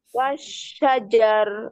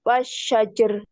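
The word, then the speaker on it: والشجر: wadzu bukan Wadu wadzulumat wulumat Betul azzakah He wasajar wasyajar wasajar wasyajar iya terus wail wallail Wil ya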